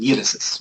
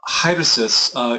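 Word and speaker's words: αἵρεσις: We get, particularly if we leave the rough breathing sound in, which you don't do in modern Greek pronunciation that you're using, irisis, right? Erisis. Yeah. Hyresis, you hear the rough breathing in there.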